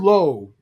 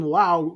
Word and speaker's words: Lowe: It's spelled Lowe. It's spelled Lowe. If you wanted to be called fucking Lau, spell it L-A-U, bro. That's Lau. Yeah, L-A-U-W. Yeah. Yeah, whichever. L-O-W-E is Lowe.